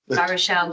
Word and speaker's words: Baruchel: I hope I've pronounced Barashelle correctly.